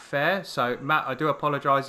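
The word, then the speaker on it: Fehr: I think it's Fair, F-E-H-R, Matt Fair.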